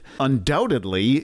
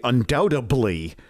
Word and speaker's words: undoubtedly: jewellery which could offend undoubtedly you don't want to say undoubtably and whatever you do